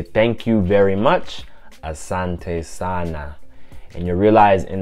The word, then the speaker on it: asante: big toys prices so you want to say asante asante to say thank you very much asante sana and you realize